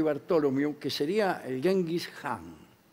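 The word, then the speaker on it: Khan: que sería el gengis han que la k y la H se pronuncian J al menos la casa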